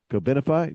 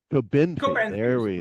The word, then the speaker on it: Cobenfy: And one of the meds that we want to talk about today is Cobenfy. No, see, I'm saying it wrong again. Cobenfy, is that right? You're Cobenfy.